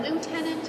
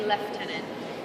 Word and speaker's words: Lieutenant: You can also pronounce that Lieutenant Governor. Officially, we say Lieutenant.